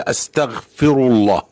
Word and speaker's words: أستغفر الله: إذا أنت مش عارف كيف تلفظ، فهي أستغفر الله، هكذا تلفظ، أستغفر الله.